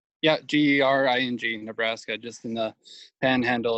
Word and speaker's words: Gering: So the place you're living in is pronounced Gering, is that right? Yeah, Gering, Nebraska, just in the panhandle of Nebraska.